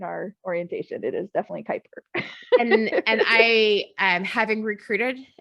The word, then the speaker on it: Kuiper: about it like sir i work here it's kuiper i promise you but we are building satellites so yeah just so you know we do cover that in our orientation it is definitely kuiper and i am having recruited as a senior